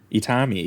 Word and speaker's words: Itami: you might need to correct me on the pronunciation here, but Juzo Itami. Itami, yes.